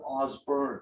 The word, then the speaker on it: Osbourne: If you actually pronounce Ozzy Osbourne's name correctly, you would actually pronounce it Osborne.